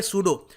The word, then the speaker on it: pseudo: और जो ये शब्द है यहाँ पर PSEUDO, इसको हम पेसूडो नहीं बोलेंगे, यहाँ पर P साइलेंट होता है, इसको हम प्रोनाउंस करेंगे सूडो।